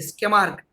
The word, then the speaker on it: Tschermak: इसमें T silent है, स्केमार्क।